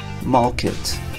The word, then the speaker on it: market: market market market because in british english after a vowel a e i o u these are vowels after a vowel we don't pronounce the r we say market talk market supermarket in american english market market we do pronounce the our market okay so in